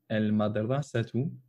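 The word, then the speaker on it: المدرسة: On dit bien al-madrasatu. On prononce le lem parce que le mim est une lettre lunaire et qu'il n'est pas compliqué de prononcer le lem lorsqu'un mot commence par un mim.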